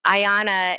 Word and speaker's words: Iana: Ayana is spelled IANA, and it stands for I am not alone.